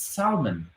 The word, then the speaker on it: salmon: It's salmon. Salmon. The L is silent.